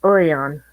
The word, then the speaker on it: Orion: And then we have a town up by Quad Cities that is spelled Orion, but they pronounce it Orion.